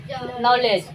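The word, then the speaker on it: knowledge: कितना सुंदर है बोल एन से पहले के साइलेंट साइलेंट तो एक साथी पढ़ो नो हो गया एल ई ले और डी जी से पहले डी साइलेंट तब हो गया नॉलेज और होता है नॉलेज अब यहां देखो एल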